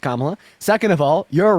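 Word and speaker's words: Kamala: uh first of all kamla Harris's name is pronounced kamla second of all you're right uh Donald Trump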